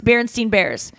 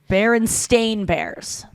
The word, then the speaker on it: Berenstain Bears: is they're not uh people remember that the name being berenstein bears spelled with an e instead of an a and it's actually berenstain bears yeah it's interesting that